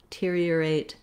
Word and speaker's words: deteriorate: You notice how the D almost has no vowel at all. So it doesn't matter too much if I'm doing I or a, just be very short. Then we have ear, earate, another kind of ear, but in two syllables. So I wrote that here as earate. We do glide in and out of these R sounds, deteriorate.